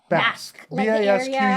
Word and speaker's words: Basque: so in the pronunciation are you saying bask or batch basque between spain and france